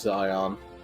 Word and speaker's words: Zion: way Han spelled it it is Zion that's how you pronounce it Zeon would be an instead of an i ah okay I know